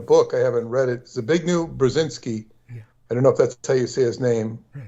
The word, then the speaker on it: Zbigniew Brzezinski: And so the man you're talking about, his name, I believe, is pronounced Zbigniew Brzezinski, and it's almost impossible to pronounce.